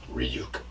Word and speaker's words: Ryuk: Yeah, it's pronounced Ryuk.